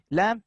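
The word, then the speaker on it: لام: Lam is a tarafiyah letter pronounced from the edge of the tongue and the parts of the roots of the teeth toward the pit.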